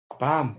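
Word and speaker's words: bomb: 밤, 폭탄이죠. 이때도 B가 발음이 안 돼요.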